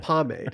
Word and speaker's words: pomade: class the word up it's pomade and i was like oh i had no clue like i saw the word assumed it was french and assumed it had some kind of weird pronunciation and then i just